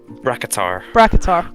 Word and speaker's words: Bracketar: There's Bracketar, that's it. Hard K.